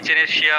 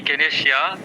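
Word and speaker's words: Echinacea: তো চলুন, ইচেনেশিয়া বা ইকেনেশিয়া দুইভাবে এটা উচ্চারণ হয়।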